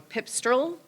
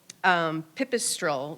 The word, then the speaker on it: pipistrelle: And then the eastern pips-- I'm gonna say it wrong, pipstrelle. Pipistrelle, which is a little tiny bat that likes